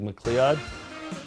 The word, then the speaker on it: McLeod: pronounce it? It's like McLeod.